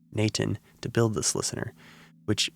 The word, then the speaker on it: n8n: code workflow automation tool called n8n or as it's pronounced naan to build this listener